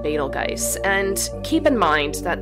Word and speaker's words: Betelgeuse: betelgeuse however i've also heard it pronounced betel juice as well as beetlejuice i kind of feel